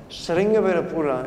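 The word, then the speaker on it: Sringaverapura: Because Sringavirapura, if you pronounce it in the Sanskritic way, is the place in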